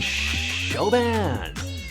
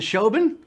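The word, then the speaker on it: Siobhan: Bacon and something and Shoban 81. That's not how you pronounce that. That's an Irish name. It's like Saoirse Ronan. Is it Shoban?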